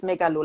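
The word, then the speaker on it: Megaloh: right yeah megalo in in german it's megalo like megalomaniac so it's something like that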